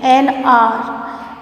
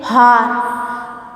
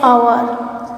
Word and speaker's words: hour: An hour later, on the same day, an hour. We don't say hour, we say hour. So O we use the pronunciation, an hour.